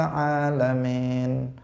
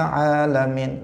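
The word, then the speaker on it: العالمين: Enggak boleh dia bacanya, misalnya dia mengatakan rabbil alamin misalnya, atau rabbil alamin, alamin. Itu juga tidak benar itu.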